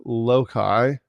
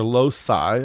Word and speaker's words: loci: We call them the five loai of maturity or lossi of maturity, I think, is the more modern way to pronounce the plural of locust.